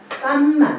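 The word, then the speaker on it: kamma: 요거는 산스크리트라고 하는 인도말이고 요거는 빠알리어라고 하는 인말이에요.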